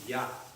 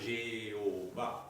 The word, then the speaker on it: Yah: Donc, là, on voit que le mot se prononce Yah, et pas Jéhovah. D'accord? C'est Yah.